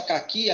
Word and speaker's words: caqui: Se você pensar caqui, a sílaba mais forte de caqui é o qui.